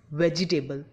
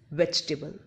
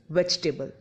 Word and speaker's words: vegetable: which was pronounced as vegetable which is wrong it's real pronunciation is vegetable in which e after G is not pronounced so it's real pronunciation is vegetable its meaning is sub